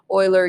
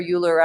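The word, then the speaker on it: Euler: after after himself so Oiler uler I don't care how you want to pronounce it but that is where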